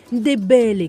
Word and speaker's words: Ndébélé: Ndébélé, comme il le prononce, c'est le mot qui revient le plus chez Ma Esther, son peuple.